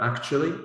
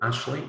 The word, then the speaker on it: actually: have one example of the word actually and how it changes to Ashley if we speak very quickly right but there's lots